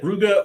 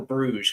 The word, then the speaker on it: Bruges: Is it Brugge or Bruges? Because I think I've been mispronounced. I think they call it Brugge, but we call it Bruges, being English.